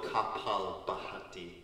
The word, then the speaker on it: Kapalabhati: Now let's do a little Kapalabhati, which is the Sanskrit word K-A-P-A-L, Kapal, B-H-A-T-I, Bhati.